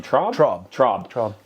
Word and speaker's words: Traub: Traub.